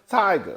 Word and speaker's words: Tyga: say his name right it is tiger or Tigger uh tiger it was a picture